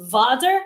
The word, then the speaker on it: Vater: In German, I'm pretty sure it's pronounced Vater, but it's spelled the same.